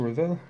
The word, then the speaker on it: Revell: range so top Max to reveal for a revel if you like to pronounce that way for bringing back the